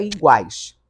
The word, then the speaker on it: iguais: Nesse iguais, esse guais está trazendo o U, que está pronunciado, ele vai ser semivogal.